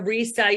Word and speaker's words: Risa: So Risa, you just said rhymes with Lisa.